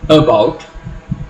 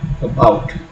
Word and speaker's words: about: You do not pronounce it as about, but about.